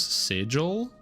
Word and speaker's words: sigil: of the options was sigil. So yeah Eat lightning damage. Sigil rhymes with wiggle.